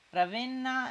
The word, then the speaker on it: Ravenna: ravenna ma mara ben dicevano ravenna è aperta lo dicono i sardi si sardi dicono tutto